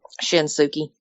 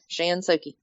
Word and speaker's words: Shinsuke: How does he pronounce it? Shinsuke. Shinsuke. Oh, Shinsuke. It's one of them Oklahoma things. Yep, Shinsuke.